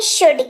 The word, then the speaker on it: should: hospital बात करते हैं शुड की एस ह ओ यू एल दी एल हमारा साइलेंट इसीलिए इसका उच्चारण हुआ शुड जिसका मतलब होता है